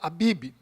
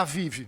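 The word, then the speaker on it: אביב: A Páscoa foi instituída, como nós lemos no texto, no mês chamado Abib, ou Aviv, tanto faz. As duas pronúncias. No hebraico está Aviv mesmo.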